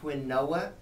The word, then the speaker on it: quinoa: had patience it was Kiwa I always say quinoa because it's spelled quu i n o a and when you say Kiwa people don't understand what it is the reason I say